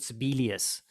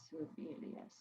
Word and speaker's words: Sibelius: own notation stuff, I use a program called Sibelius, which is running on both Windows and Mac format, and that's quite a good one. Sibelius, yeah. How do you spell that? SIB. Yeah. ELIUS. ELIUS. Sibelius.